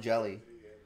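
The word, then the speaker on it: Hjelle: a time pretty easily that's jelly by the way he pronounces it jelly sean jelly that's for the giants and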